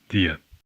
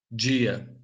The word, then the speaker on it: dia: In Portugal, it's pronounced D, or the, usually when between vowels. In Brazilian Portuguese, it's G. For example, the word for day. dia, dia, There's a parallel difference